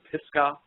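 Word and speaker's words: Pisgah: and I found out it was called the pisca crater area and that's spelled p i s g ah and it's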